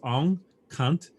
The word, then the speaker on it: Aung Khant: But his name is Aung Khant, and let me know if I'm pronouncing it correctly. I want to be respectful of that. Yep, that's right.